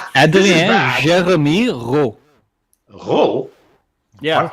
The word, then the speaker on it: Rheault: Because English people are like R-O-W, and I'm like, not even close.